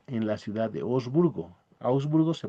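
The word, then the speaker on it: Augsburgo: Osburgo se pronuncia Osburgo en el año 1531.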